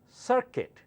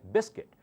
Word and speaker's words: circuit: is silent just like biscuit in biscuit you say biscuit right you don't say Biscuit the same way you say circuit not circuit okay all right circuit the